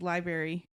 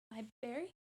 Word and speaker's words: library: me let's talk about how Sydney says library liary library library it's Library you always say do